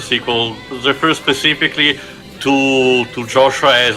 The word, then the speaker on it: Joshua: loves to call me Joshua and remember how I pronounced it yosua is as close as it gets to the original pronunciation Hebrew pronunciation of well Jesus so